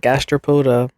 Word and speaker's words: gastropoda: I did I I did say it right gastropoda okay period look at me a large class